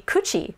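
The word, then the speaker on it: 口: And then the other one that looks like katakana ro, but it's actually kuchi, or mouth.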